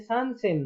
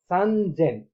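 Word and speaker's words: 三千: अब यसको चाहिँ खान्जीमा कसरी लेखिन्छ भन्दाखेरि अब सान र सेनको खान्जी राखेको छ, तर उच्चारण चाहिँ सान सेन नभएर सानजेन हुने भएकोले हामीले यहाँ तपाईहरुलाई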